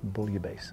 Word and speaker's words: bouillabaisse: pronounce this differently, but usually in the French, if there's two S's, it's not the Z sound, it's the hard S sound. Okay. So you might hear some people say bouillabaisse or bouillabaisse, or I think the proper pronunciation is bouillabaisse.